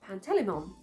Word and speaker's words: Pantalaimon: I think I read Lyra's daemon's name, Pan, I read it as Pantalaimon, instead of Pantelimon, which is what my teacher read it as.